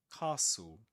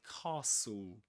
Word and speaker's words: castle: Castle. We don't pronounce the T. nor the e the end we say castle.